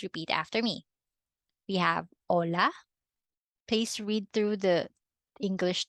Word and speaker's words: hola: So you have to read this as hola.